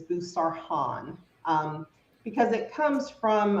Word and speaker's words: Boussarhane: so I always joke the correct pronunciation of my last name is busar Han um because it comes